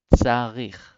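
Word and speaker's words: צריך: This word is a bit hard for people to pronounce because of the letter tzadik. It's kind of hard with the tz sound. It's like a pizza, tzarich.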